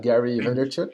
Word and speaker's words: Vaynerchuk: how to say his his last name gary van der vrook wonder chuck vaynerchuk van der chuk yeah gary vaynerchuk yeah and he says something that's really interesting